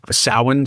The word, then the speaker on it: Samhain: If you're hearing Samhain, when you see it spelled Samhain.